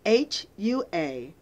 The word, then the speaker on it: Huachuca: I'm going to spell it for y'all. It's Huachucha.